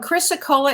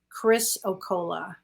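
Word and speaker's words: chrysocolla: it's all possible it's all possible absolutely and Chrissa Cola is spelled c-h-r-y-s-o-c-o-l-l-a Chris okola okay hopefully you can find that and look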